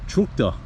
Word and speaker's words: Cockta: And I asked the girl, I said, do you pronounce this Cocta? Cocta? And she said, yep, that's how you do it.